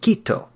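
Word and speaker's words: Kito: tribe that worships Kyoto notice actually pronounced keto ki tio the cannibal God so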